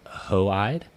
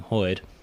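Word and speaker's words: Hoid: the audio book uh they pronounce his name hoey uh in keeping with how aons are pronounced so if you're used to seeing or thinking Hood it's different um yeah I mean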